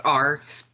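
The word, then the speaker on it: Aur: our bird person uh it's r pronounced like a-r-e but it's a-u-r r okay pirate all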